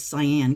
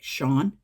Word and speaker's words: Sian: I thought it was Sian cuz it's S S I A N but I googled it and it's actually supposed to be pronounced like Shawn.